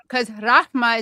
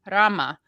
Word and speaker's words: Rahma: Well, thank you guys so much because Rahma is a different name from Rama, which is what we're close friends, so you have to pronounce my mayor's well.